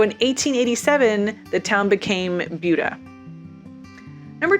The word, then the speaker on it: Buda: If you're like some people, you hear Buda and you think Buddha, whose teachings eventually were turned into Buddhism, but Buda was not named for him. And in fact, the pronunciation is different.